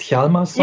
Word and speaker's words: Hjalmarsson: Ja, und die Frau, die dafür sorgt, dass man die beiden Fälle miteinander verbinden kann, das ist Tess Hjalmarsson. Is it correctly pronounced Hjalmarsson? Yes, very good.